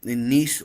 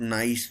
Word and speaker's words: Nice: And of course, he already owns a club in Nice, OGC Nice. Yes, that's how it is pronounced, not nice, not anything else. It's Nice. It's pronounced Nice, and he'll be bringing in his experience.